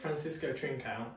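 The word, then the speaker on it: Francisco Trincão: Yeah, it's Francisco Trincao.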